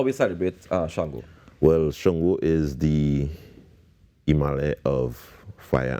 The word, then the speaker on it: Shango: the pronunciation wrong but the thing with um the Aruba language is a lot of the words have different intonations and letters so what is going to cause is different pronunciation sometimes and writing it in English doesn't always convey that ination so that that pronunciation is understandable but a shungo festival